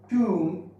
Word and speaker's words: tomb: Now, if we talk about B, at the end of the word, okay, at the end of the word, after M, B is silent. Like comb, tomb, bomb, womb.